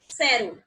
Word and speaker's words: cero: So 0 is pronounced as like cero. Cero. Cero. Good. Because as I told you, the pronunciation of CE is like sa.